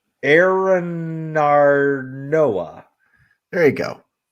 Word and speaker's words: Arinarnoa: So I'll spell that for you guys. ARINARNOA. ARINARNOA. Correct. Aranarnoa. There you go. Aranarnoa.